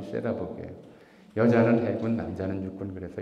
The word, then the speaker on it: 세라복: 세일러복을 일본식 발음이 세라복이에요.